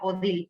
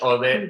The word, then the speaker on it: Odile: Técnicamente se pronuncia Odile, entonces para poderlo, porque siempre es un... Es Odile, vale. Es Odile, sí.